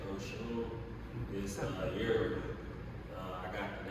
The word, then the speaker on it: Oshun: Yeah, my name is Oshun. I've been trying to pronounce it correctly. It's actually Oshun.